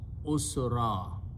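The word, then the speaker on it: عسرا: alif, extra alif, and when you stop you pronounce usra.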